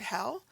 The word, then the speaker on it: he'll: Now, that looks a lot like the word hell, but we don't say it that way because there's the apostrophe, and we try to hang on to the pronunciation of the original two words.